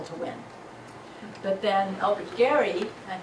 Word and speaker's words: Gerry: But then Elbridge Gerry, and he pronounced it Gary, even though we say Jerry, he drew the famous